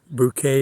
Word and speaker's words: Bucket: um keeping up appearances Mrs bucket or bouquet as she pronounced it having to keep up